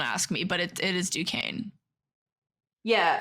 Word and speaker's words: Duquesne: Or like how you say, don't ask me, but it is Duquesne. Yeah, phonetically it looks like Duquesne.